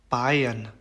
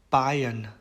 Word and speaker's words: Bayern: 그 다음에 이제 AI, AY, EI 이렇게 세 개의 경우에는 발음을 I라고 얘기를 합니다. 그래서 Kaiser, Kaiser, Bayern, Bayern, Heißen, Heißen 이렇게 발음을 합니다.